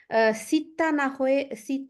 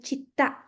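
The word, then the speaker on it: città: তো এরা উচ্চারণে অনেক প্রবলেম, যেরকম সিত্তা না হয়ে হবে চিত্তা।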